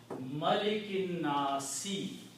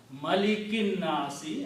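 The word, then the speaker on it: مَلِكِ النَّاسِ: So the word is Malikin Nasi. This is the word in the Quran. King of the people. Malikin Nasi.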